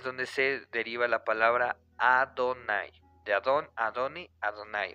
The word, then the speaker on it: Adonai: como Adonai y los estudios judíos realmente lo pronuncian adonay o sea Dios supremo señor o todo eso